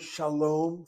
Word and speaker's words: shalom: The word shalom, from the point of view of syllabication, as I write the word out, you have a CV for the first syllable, second syllable CVC, long vowel closed is accented.